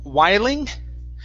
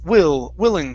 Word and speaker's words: willing: Next is the word willing instead of whiling. It's willing, short I.